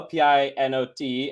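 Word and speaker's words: Pineau: it's yeah there's Fino p-i-n-o-t and there's p-i-n-e-a-u uh and this is the p-i-n-e-a-u so it's Pino I'm not French either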